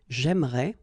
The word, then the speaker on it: j'aimerais: this here and here, you don't pronounce it. So it will go like j'aimerais, or then j'aimerais. Remember, phonetically they are the same, okay?